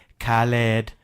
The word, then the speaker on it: Khaled: podcast we posted because I couldn't pronounce DJ Khaled. Khaled. It's how you say DJ it. Khaled. We the best. We the best, DJ. Yeah. So there you have it, folks. I pronounced it correctly. Khaled.